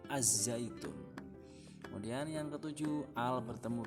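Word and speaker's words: الزيتون: Yang keenam, al bertemu dengan za, bacanya ya ini contohnya, bacanya az-zaitunun, az-zaitun, bukan al-zaitun tapi az-zaitun.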